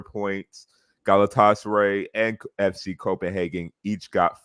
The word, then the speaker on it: Galatasaray: Aaron, how you pronounce Galatasaray? Oh, Jesus. We did this before the show started, so I said Galatasaray.